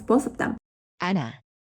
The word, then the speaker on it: 앉아: But when there's an iung, which doesn't have a value of actual sound as an initial consonant at the next syllable, the second consonant of the double final consonants goes like this.